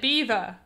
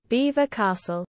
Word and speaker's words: Belvoir: that I haven't but it's spelled like Belvoir but we call it beaver it is it is pronounced that way Beaver Castle yes yes it is